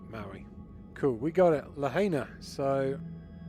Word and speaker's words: Lahaina: Lahaina. Is how you pronounce it.